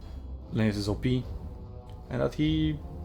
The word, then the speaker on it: Leonidas: Also, it's Leonidas, not Leonidas, by the way. He's Greek. It's not Sinani, it's Kanane. It's Greek. Like, respect the original pronunciation.